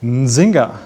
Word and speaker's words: Nzinga: Nzinga, oh mein Gott, hast du das gut ausgesprochen? Machst du das nochmal für mich? Nzinga.